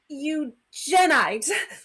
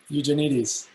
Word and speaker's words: Eugenides: Tanya fumbles with the pronunciation. eugenite. You mean Eugenides?